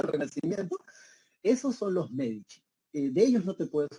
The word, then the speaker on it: Medici: el Duce, en italiano, cuando tú veas la letra C, esta C se pronuncia como che. Entonces, por eso se pronuncia los Medici, ¿bien?